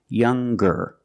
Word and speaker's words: younger: the youngest the strongest when we change these adjectives with ER or with est we're going to pronounce the G sound the hard G so it's younger ger with a good sound stronger the youngest again